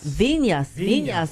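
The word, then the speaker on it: Viñas: Vinas, who is Vinas. With the tilde over the end. It's pronounced with the tilde Vinas. over the end. Vinas.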